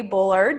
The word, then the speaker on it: Bullard: i am so excited that we have shelly bullard did i say that right i didn't even